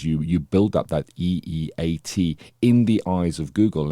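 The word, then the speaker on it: E-E-A-T: got um an acronym it is e e a t so it would be pronounced eat that's how it's mentioned in in marketing terms and it's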